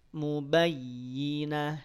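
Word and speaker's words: مبينة: kunna bifahisyatim mubayyin mubayinah ynya ditekan yang tekan y-nya bukan bnya bukan Muba Muba Muba yinah enggak bnya mah tidak perlu ditekan BMA dibunyikan seringannya saja seringan mungkin Muba Muba Muba baru ketika masuk huruf ya karena dia bertasydid kemudian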